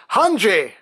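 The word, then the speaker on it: Hange: Now, I have also seen official merchandise that has it written as Hanji Zoe, and that's how they pronounce it in the Japanese version of the cartoon, and that's what I'm used to.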